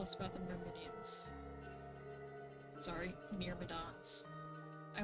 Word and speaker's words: Myrmidons: The Myrmidons were the army of Achilles. Which way is it supposed to be pronounced? Is it Myrmidons or Myrmidians?